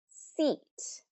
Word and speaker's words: seat: I hear this um so important to get those vowels those vowels right another one sit seat I want you to